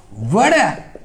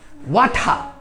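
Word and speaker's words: water: For example, a fish out অফ ওয়াটার, কি উচ্চারণ? ওয়াটার। American উচ্চারণ হচ্ছে টিটাকে ডি উচ্চারণ করে, আর উচ্চারণ করে না, আর উচ্চারণ তাহলে হবে কি ওয়াটার, ওয়াটার, ওয়াটার। আর ব্রিটিশরা করে কি ওয়াঠা, টিটার উচ্চারণ করে ঠ,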